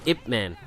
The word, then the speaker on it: Ip Man: And it is actually pronounced Ip Man, for those that are wondering.